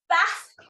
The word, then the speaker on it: Bath: hope so next is bath I'm going to annoy Everybody by pronouncing it in the Barbie way is there anybody from